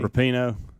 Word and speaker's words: Rapinoe: Rapinoe.